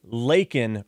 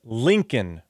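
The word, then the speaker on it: Laken: killed by an illegal so instead of saying Lin Riley Joe Biden says Lincoln Riley Lincoln Riley Lincoln Riley so Lincoln Riley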